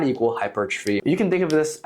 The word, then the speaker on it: hypertrophy: Some people will pronounce it hypertrophy. These people are incorrect. Do not pronounce it hypertrophy, it's hypertrophy. I'm nitpicky about this.